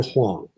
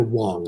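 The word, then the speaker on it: 黄: Huang. Sometimes I call him Dr. Wang. I use the Cantonese pronunciation.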